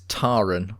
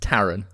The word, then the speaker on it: Taran: meet our main character taran which they keep pronouncing as taran which is the first of the mildly irritating pronunciations it's taran we've had various english characters such as king